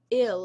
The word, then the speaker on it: il: Okay, guys, we already know that the masculine is il, which is pronounced as ill and is spelled as ill in English, but it is pronounced as il in French.